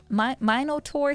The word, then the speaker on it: Minotaur: Minotaur sounds like evil children. But bovine uh min like minimum minotaur.